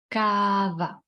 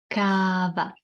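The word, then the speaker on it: káva: some coffee shall we coffee and Czech long short cava your turn cava and we can use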